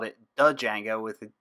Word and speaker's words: Django: time the pronunciation I which I can't pronounce pronunciation of Django is the silent Django when I first started learning Django uh I